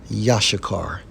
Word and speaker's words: Issachar: And according to biblical doctrine, they are from the tribe of Issachar, pronounced as Yashakar in the Hebrew.